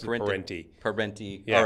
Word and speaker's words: Parente: They pronounce it Parente. I pronounce it Parente.